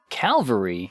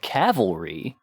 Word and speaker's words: Calvary: Now Calvary, just Calvary is the name of the place where Jesus was crucified. Oh, the C what people mispronounce a lot would be like the cavalry. Yes. Which is horses.